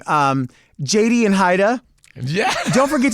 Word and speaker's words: Jaida: Is in Spanish, my name would be pronounced Haida.